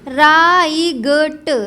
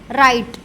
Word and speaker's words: right: बताया गया था RIGHT, तो यहाँ पे वैसे बोलना चाहिए राईगट, राईगट है, लेकिन ऐसा नहीं बोले, क्यों, क्योंकि जी एच से पहले यहाँ पे आई लगा है, तो जी एच का उच्चारण जो है गा वो साइलेंट हो जाएगा, तो क्या बोलेगा, RI राई और टा राइट, सब इतना बोला जाएगा, ठीक है।